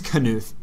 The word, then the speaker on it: Knuth: So I actually think it's Knuth as well. Oh, it's on Knuth. This topic. Okay. That's what the pronunciation key says. Ah, Knuth.